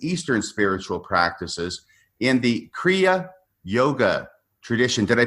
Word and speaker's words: kriya: other spiritual practices Eastern spiritual practices in the kriya yoga tradition did I pronounce that correctly Philip you did okay um